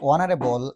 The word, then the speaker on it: honorable: Honorable and our okay so when I pronounce honorable and our definitely the sound comes O is vowel sound that's why we have